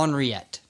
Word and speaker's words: Henriette: Henriette. Oh, I bet she was ornery. Well, Nice. it's technically like Henrietta, Yeah, but in, it's like the French Or like pronunciation. Henrietta.